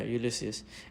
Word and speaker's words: Ulysses: Yeah, Ulysses.